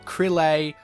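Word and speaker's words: Krile: is so annoying because in Japanese it has one pronunciation, Kururu, and then of course in the English translation they give us like a million different ways to pronounce it, and nobody can agree on how you do it.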